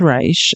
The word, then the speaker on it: Reich: See, I'm still saying his name wrong. Reich. His name is Reich, and even though I've learned that now, I still continue to say it like it's spelled.